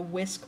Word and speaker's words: WSQ: required to do the Whisk model and this is uh wsq stands for things that you have to do and it's pronounced whisk so the W in